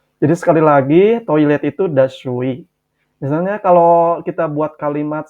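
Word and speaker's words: دستشویی: Dibacanya dashui, dashui.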